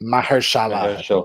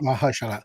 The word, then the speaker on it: Mahershala: Sorry, Mahershala. Mahershala.